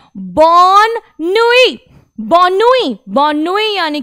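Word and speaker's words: bonne nuit: फिर से आपने देखा नुई में हम लोगों ने लास्ट वर्ड का प्रोनाउंसिएशन नहीं करा क्योंकि उसके बाद कोई वॉवल नहीं था, सीधा कॉन्सोनेंट पर ही ये फिनिश हो रहा है, इसलिए ये हो गया आपका बॉननुई, बॉननुई यानी कि गुड नाइट।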